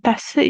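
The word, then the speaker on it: Tasse: ya piring di tas tase juga ya di tas risci ya bacanya tase ya es-nya dua tas nah ini tase kalau tas kalau ini tase tase ya oke Good.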